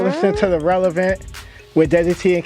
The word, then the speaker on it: DESIITEE: You can follow me at Desi T, DESIITEE.